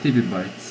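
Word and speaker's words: tebibytes: This is pronounced Tibby Bytes.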